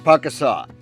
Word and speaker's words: Pukaskwa: Yes, despite those few extra consonants, it's pronounced Pukaskwa.